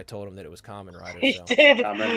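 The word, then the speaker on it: Kamen Rider: earlier indirectly when we were talking about the common Riders because you corrected me so I had to remember that you corrected me and Lane continued to say Cayman Riders after I told him that it was common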